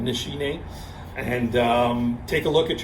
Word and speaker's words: Nishine: to keep in mind that's how you pronounce it nishi name and take a look